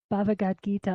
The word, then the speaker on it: Bhagavad Gita: Bhagavad Gita. I want to put an extra syllable in there for some reason.